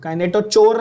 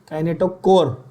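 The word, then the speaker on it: kinetochore: Word क्या है, spell proper pronounce, क्या बोल रहा है, काइनेटोकोर, काइनेटोचोर नहीं, काइनेटोकोर, काइनेटोकोर।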